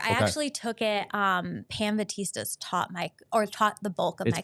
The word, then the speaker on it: Batista: Pam Batista's taught the bulk of my class. It's pronounced Batistas.